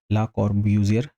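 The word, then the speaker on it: Le Corbusier: हम लोग अपने लिए या आप अपने हिसाब से जो भी प्रोनाउंस करना चाहें कर सकते हैं। हम लोग इसे ला कॉर्ब्यूज़ियर कह के अपना काम चला लेंगे, ठीक है?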